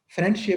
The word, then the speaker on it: friendship: da sound फ्रेंडशिप में da sound आप बिल्कुल बोलते ही नहीं है।